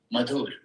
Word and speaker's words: Madhur: Well, only Indians can pronounce that name the most correct way, like Ian did. But my name needs to be pronounced Madhur, which means sweet. Yeah. Madhur.